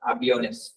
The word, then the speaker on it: aviones: ठीक है, आई बना रहा ना, ये वाला एक्सेंट हट जाएगा, aviones। प्रोनाउंसिएशन में क्या चेंज आएगा लेकिन? यहाँ पे स्ट्रेस देना है आपको, aviones, आई पे थोड़ा सा स्ट्रेस देना है, aviones।